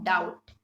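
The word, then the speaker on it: doubt: इसमें हमारा base silent होता है, तो इसलिए हम लोग क्या बोलेंगे? नो डाउट.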